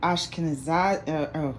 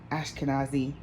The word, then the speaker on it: Ashkenazi: Well, Goldman Sachs, okay, is a family of Ashkenazi, I said it wrong. Ashkenazi Jewish descent, known for the leading investment bank, Goldman Sachs.